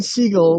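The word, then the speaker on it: Segel: I don't know exactly it's it's Jason seagull but Stephen Seagal yeah yeah I did know Stephen seagull for sure I knew that that's how you pronounced that seagull sorry seagull just you know it's a bird that's what your last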